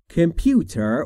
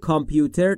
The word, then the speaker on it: computer: Computer will spell all the sentence for me. Computer will spell all the sentence for me. Computer که معرف حضورتونه. Computer، کامپیوتر، تلفظ درست در انگلیسی نیست.